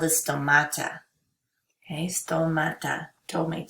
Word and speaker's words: stomata: on the bottom of the leaf called the stomata okay still Mata told me don't not tomato it's tomato no no it's tomato stomata sto m-a-t-a I find if I can spell